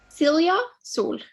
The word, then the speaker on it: Silja Sol: Today, we're absolutely delighted to be in the presence of Norwegian artist, and I'm a little bit nervous about the pronunciation, Silja Sol. Silja Sol.